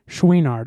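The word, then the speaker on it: Chouinard: Ivan Schweinard. I think that's how you pronounce his. That is how you pronounce his last name. I'm telling you right now. Yeah, I yeah, know yeah. that for sure. Schweinard.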